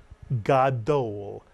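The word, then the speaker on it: גדול: Two vowels, two syllables. It is the Hebrew word gadol. Ga is the first syllable, dol is the second.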